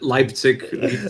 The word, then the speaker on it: Leipzig: lip slick lipstick how do you say it leipzig lipstick okay lipstick i'm thinking that would be